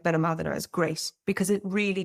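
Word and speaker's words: Benalmádena: So typically Malaga, you will have Torremolinos, Benalmadena, sometimes known as Benalmadena, depending on how you pronounce things in your neck of the world.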